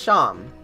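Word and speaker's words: Seam: Pronounced Sham.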